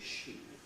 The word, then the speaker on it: ski: had an advisory committee, and this committee issued advice as to how this word should be pronounced, and they said it ought to be she. It was supposed to go she.